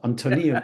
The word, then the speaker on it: Antoniou: Am I pronouncing your name right? Uh, it's near enough. Antonio would be more accurate, but that's good enough.